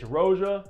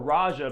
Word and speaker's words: Roja: Parfums Elysium Eau Intense, or Raja, because a lot of you guys are saying I mispronounce it, which I think I am. It is probably Raja, but I love the way Roja sounds.